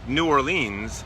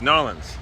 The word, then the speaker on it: New Orleans: you're in New Orleans it's not New Orleans it's norleans no but Drew still